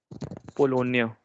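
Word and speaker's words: Pologne: Now try pronouncing this, please. Polonia.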